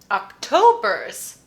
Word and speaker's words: October's: schwa october october's z october's it's a z ending even though it's spelled with an s the sound is a z but because it's the